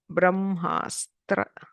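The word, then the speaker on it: ब्रह्मास्त्र: So this is Bra, B with R, then H and Ma, Brahm, Ha, half Sa, and then Tra, Brahmastra.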